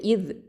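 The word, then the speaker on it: إذ: அடுத்தது இவ் ஹம்சா கெசரா, ஜால் சுக்கூன் இவ். இந்த ஜாலில் சுக்கூன் இருக்குது இல்லையா, இது ஜால் தரஃபுல் லிசான் எழுத்து. இது ஜஹரு சிஃபத் இருக்குது, ஷித்தா சிஃபத்தும் இருக்குது, ரஹவா சிஃபத் இருக்குது. இந்த இதில் ரஹவா சிஃபத் இருக்குது. அப்போது இவ் இதில் பார்த்திங்கன்னா என்ன அப்படின்னா இந்த நுனி நாவு மேல் பற்களுக்கு கீழே வச்சு சொல்லணும். இவ்.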